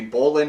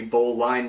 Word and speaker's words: bowline: Alright, the next knot we're going to tie is called the bowline knot or the bowline knot, depending on how you want to pronounce it.